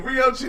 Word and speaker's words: Rioo Cheeny: Rioo Cheeny.